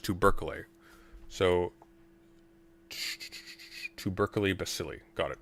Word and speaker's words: tubercle: Tubercle, it's pronounced tubercle.